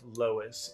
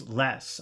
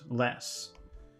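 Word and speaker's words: loess: this adventure you can see a picture of Lois l o e SS and I guess that's how you pronounce it let me let me see where I am here okay so this is Lois it's kind of a yellowish soil I guess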